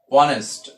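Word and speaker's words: honest: এবার এইচ এর উচ্চারণ যদি হ না হয় তাহলে এন হয়। যেমন হি ইজ অনেস্ট, তো এখানে হ হয়নি, এখানে অনেস্ট হয়েছে, এই জন্য এইচ এর উচ্চারণ হ হয়নি বিধায় এখানে এন হয়েছে।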